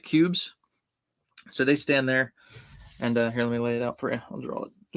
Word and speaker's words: Kubb: It's spelled Kubb, but it's pronounced Cube.